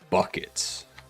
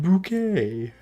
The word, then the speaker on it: Bucket: Evon bucket. It's pronounced bouquet.